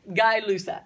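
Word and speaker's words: Gay-Lussac: how i heard it it's spelt gay luck don't know don't know french thinking he's french don't know how to say it but i think it's guy guy lusak said spelt gay um pressure and temperature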